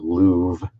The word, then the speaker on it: Louvre: Man, the walk from we stayed in what's in the Louvre area, Louvre. They pronounce it Louvre.